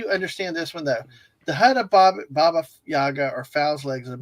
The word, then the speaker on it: Baba: yeah so first off Baba Yaga so Baba is like uh uh grandmother in in Slavic and sometimes it's pronounced Bubba right um the the